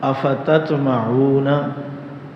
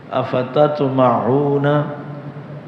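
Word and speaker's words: أفتطمعون: استعمال ہوئے ہیں وہ پہلا لفظ ہے اتتمعون، افتتمعون۔ اچھا، یہ لفظ دہرایا کریں تاکہ تلفظ بھی ٹھیک ہو۔ افتتمعون اردو میں استعمال ہوتا ہے نا، طمع، امید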